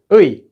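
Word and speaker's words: 의: So whenever this is being used as the possessive marker, as in like apostrophe S, like it is his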